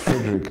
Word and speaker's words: Frederic: Yeah, not for everyone, not when you have to get it right. It's Frederick, dog. It's Frederick. Frederick.